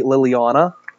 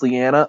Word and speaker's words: Lianna: pronounce your name I I always want to say Liliana because when I see your name that's just what I read for some reason it's lianna I know but I